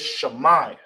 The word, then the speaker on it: shama: hear or listen in the English and how you will say it, how you pronounce it is shama. All right. All right. So hear and listen is in uh ancient Hebrew is it's is pronounced shama.